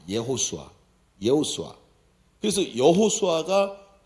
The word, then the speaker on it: 여호수아: 근데 여호수아라는 이름이 히브리어로 발음을 할 때 예호수아라 그래. 예호수아.